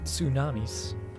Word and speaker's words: tsunami: gonna protect us from the tsunamis that's how you pronounce it I'm gonna emphasize the T maybe we'll even put